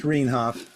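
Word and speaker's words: Rienhoff: So the one thing I would ask, Peter, is that you spell my name R-I-E. What, R-I-E? It's R-I-E. Oh, here. Yeah. But it's pronounced Rainhoff.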